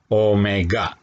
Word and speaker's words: Omega: anguler atau frekuensi anguler lambangnya seperti huruf w tapi dibacanya Omega Omega group kecil ya